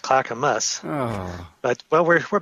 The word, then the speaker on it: Clackamas: Clackamass, Oregon. Where is it? Well, it's actually pronounced Clackamus.